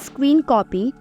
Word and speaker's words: scrcpy: Android screen mirroring tool also known as or pronounced as screen copy this application is a